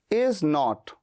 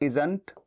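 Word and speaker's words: isn't: इजंट, ज, इजंट नहीं, ज नहीं कहेंगे, आप कहेंगे ज। ये बिंदु आता है ना, ये बात मैंने प्रोनाउंसिएशन के वीडियो में आपको बताई है। इजंट या फिर एडवांस फॉर्म है इजन, ट भी नहीं प्रोनाउंस किया जाता, इजन।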